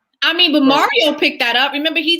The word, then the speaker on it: Mario: Please say his name like this. It's Mario. It's not Mario. It's Mario.